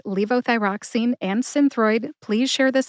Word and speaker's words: levothyroxine: for joining me to learn how to say Leo thyroxine and enroy to find the show notes for